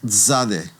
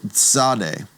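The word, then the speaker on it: tsadi: The next letter is called zade. Zade. And you should recall that zade is one of those unique sounds because it's a ts that's blended together or a tz that's blended together.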